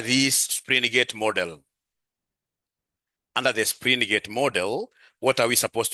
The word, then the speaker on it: Springate: Springgate. Yes. Not springate. Springgate model. Springgate model. So under springgate model, ladies and gentlemen, what are we supposed to be knowing under this springgate model? Under the springgate model, what are we supposed to be knowing?